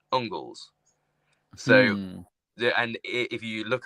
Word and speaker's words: Angles: If you think of Angles, used to be Engels, but it was actually pronounced Ungles.